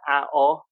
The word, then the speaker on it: À Ố: But you've just embarrassed me because you pronounce it À Ố.